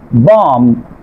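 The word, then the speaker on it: bomb: খেয়াল করেন খম, বম, ঠুম, এখানে খেয়াল করেন এম এর পরে প্রতিটি ওয়ার্ডের শেষে কি আছে, বি আছে, এই জন্য বি লেটারটি সাইলেন্ট থাকবে।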